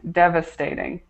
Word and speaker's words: devastating: Alberto, I just want to point out this word right here, devastating, devastating. Okay, so make sure you correct that pronunciation there, devastating.